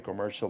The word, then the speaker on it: commercial: equations in the commercial plans. Commercial. All right. This This is something that kills contrast here. Unstressed syllable that finishes with M. Remove that vowel. Turn it into a into a reduction.